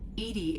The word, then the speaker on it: EDI: Why are you named Edy? Edy is the phonetic pronunciation of EDI. That is an acronym for enhanced defense intelligence.